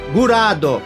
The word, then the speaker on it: Graad: 3D como Gurad, e se aproxima mais da pronúncia japonesa, Gurado, Fundação Graad, Gurado Zaidan, Vander Graad, Benda Gurado.